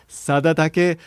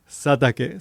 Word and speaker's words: Satake: I mistakenly pronounced this guy's name as Sadatake, but it's supposed to be Sadake. So, the name of the